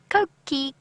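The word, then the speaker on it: coqui: It's also a bird that is very, very easily identifiable by its call because it says its own name. Koki, Koki. It is spelt C-O-Q-U-I, by the way.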